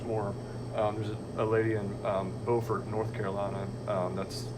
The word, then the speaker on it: Beaufort: There's a lady in Beaufort, North Carolina. That's how they pronounce it.